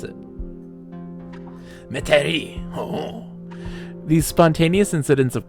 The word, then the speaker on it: Metairie: How do you pronounce it? Metairie.